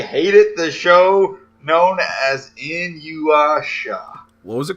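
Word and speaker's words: Inuyasha: In-you-asha.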